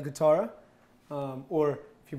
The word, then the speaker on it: chitarra: So this is actually called spaghetti alla chitarra, or if you pronounce it right, spaghetti alla chitarra.